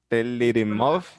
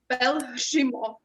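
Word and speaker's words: Pelhřimov: Pelirimov? Belshimov.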